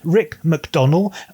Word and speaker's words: Rick MacDonnell: His name is Rick MacDonnell. I'm using the British pronunciation there, or probably more properly it should be Rick MacDonnell, but I know he pronounces it slightly differently.